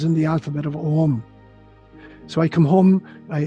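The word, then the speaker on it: Ogham: written language it's called om spelt in gaelic o g-h-a-m but pronounced as om g h in gaelic is silent so om was a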